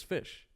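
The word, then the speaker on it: ghoti: e yeah and then how is uh TI pronounced in the word Nation sh yeah goatee g h o TI is fish what the hell yeah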